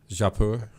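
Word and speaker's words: Jaipur: How do you pronounce that though? Japur.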